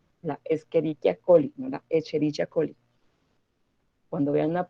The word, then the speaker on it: Escherichia coli: tenga una serie una h la utilizamos lo pronunciamos como si fuera una k la escherichia coli escherichia colli cuando vean la pena h como